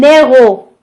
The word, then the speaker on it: héros: Un héros, La lettre H, c'est une lettre muette. Il ne se prononce pas dans ce mot.